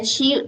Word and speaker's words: 七: So 一 and 七 sound similar if you stand far away, so maybe people cannot hear it clear.